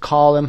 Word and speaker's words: column: column هم به اینها میگیم. column صدای نه تلفظ نمیشه.